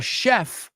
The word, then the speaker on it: chef: There's a chef I know in Chicago. He works on Lake Michigan, and he's a machine. Those are the CHs in English that are SHs.